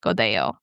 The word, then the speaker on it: Godello: your spot to find Godo. Oh, and quick note, when it looks like it's spelled, it looks like Godello. There's two L's, so you'll see that in the show notes.